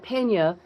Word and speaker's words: Peña: not hard but Pena because it's spelled P E N A usually um without the till day they don't know how to pronounce it. So I said well just pronounce it like there's a Y in there P E N Y A and you'll get it.